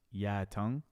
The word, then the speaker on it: Yu Tung: It's like Toronto, Canada, very likely family histories, local press profiles, and the restaurant owns material all agree that Yu Tung, pronounced Ya Tung, introduced chili chicken to Toronto in 1986, making it the first place Canadians encountered the dish.